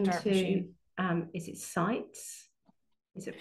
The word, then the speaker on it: CITES: to, is it sites? Is it pronounced CITES, CITES? yeah, CITES, yeah.